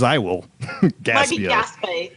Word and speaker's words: Gaspé: It might be Gaspé. It might be pronounced Gaspé. Whatever.